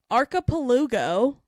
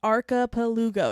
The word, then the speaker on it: archipelago: It's archipelago. I was not saying that right in the last episode. Lugo. Yes, archipelago.